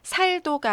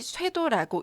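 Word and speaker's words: 殺到: 그래서 이를 도자와 주기살자가 만났을 때는 살도가 아니라 반드시 쇠도라고 읽으셔야 합니다.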